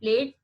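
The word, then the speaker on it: plait: Even the example also you can see the plate, P-L-A-T-E, plate, a dish where you eat your food, and another P-L-A-I-T, plate.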